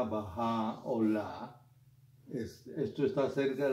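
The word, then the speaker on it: Bahá'u'lláh: Eh, aquí está escrito baja laá, como se deletrea en inglés, pero se pronuncia bajá o la.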